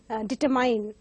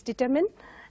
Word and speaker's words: determine: So we have words like determine, and usually mispronounced as determine. So this has to be pronounced as determine, and more often the